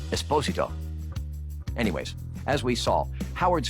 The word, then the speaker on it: Esposito: their mano amano showdown and yes it is pronounced esposito anyways as we saw howard's first scene with